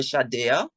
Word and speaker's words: Shadea: Another new artist I would have worked with, her name, she goes by Shadea, so it's really Shade, but how it's spelled, it's Shadea.